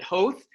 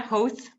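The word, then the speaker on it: Howth: i had was i i visited hoth am i pronouncing that correctly host you are yeah host i accomplished something this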